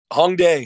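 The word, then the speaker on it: 홍대: Hongdae.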